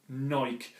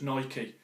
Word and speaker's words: Nike: I'll carry on and did have some feedback about the pronunciation of Naik and I take on board that it should be should be said as Nike in America I think they call them Nike everyone calls in America